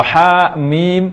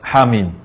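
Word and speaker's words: حم: survei dimulai dengan Hamim Bagaimana cara pengucapan HAM yang benar Hadi baca dua harakat dan mebaca 6 harakat Hamin jika ada membaca ayat ini Hamim atau hakmin maka ini merupakan kesalahan dalam pengucapan Hamim yang benar sekali lagi ucapan H2 harakat dan minum Arahkan Hamin sekali bisa ucapkan Hamin demikian lintasan tajwid pada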